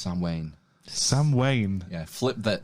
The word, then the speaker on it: Samhain: Sam Wayne. Sam Wayne? Who? Sam Wayne. That's the old Celtic. Sam, yeah. Oh, right, okay. Well, it's spelt Samhain, but it's pronounced Sam Wayne.